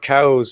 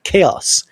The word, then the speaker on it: chaos: back and he says I am told it is pronounced chaos oh that's fantastic